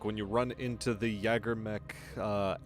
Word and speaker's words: Jägermech: Some people pronounce it Jägermech, some people pronounce it Jägermech. I flip-flop between the two because, if I recall, it is actually spelt Jägermech, not Jägermech. It is just J-A-G-E-R, not a J-A-E.